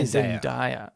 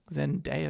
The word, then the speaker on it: Zendaya: Am I pronouncing it wrong, by the way? You say Zendaya. I say Zendaya. I feel like Zendaya is probably right.